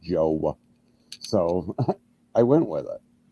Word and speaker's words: Jowe: on phonics thing mm-hmm j-o-w-e those long the e-silent i don't know maybe it's just a mid-east thing but everybody pronounces my name joe so i went with